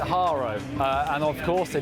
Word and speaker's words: Haro: Right in Harrow Bikes. Actually, I grew up my big brother had a Harrow BMX when I was a kid. You actually pronounce it Haro.